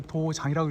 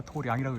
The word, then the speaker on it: 도량: 시원 도량 설락 선문 여기서 도장이라고 읽으면 안 됩니다 도량이라고 읽어야죠 예 자 마무리하겠습니다